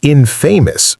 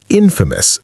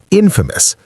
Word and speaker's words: infamous: Some learners pronounce it infamous, trying to mirror famous. The correct pronunciation is infamous, 3 syllables, infamous. The stress is on the first syllable.